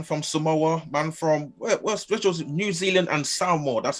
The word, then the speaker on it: Samoa: from samoa man from spiritual new zealand and samoa that's how you pronounce it wants to take on the bronze